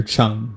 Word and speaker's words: Chung: And I realized, you know, I read his name wrong and it's Peter Chung, not Peter Chang.